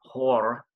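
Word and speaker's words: Goor: a town called um it has a simple spelling its G oo r and I was told when I got over there because you roll the G's it's pronounced floor I guess or doing something to that effect so that's where we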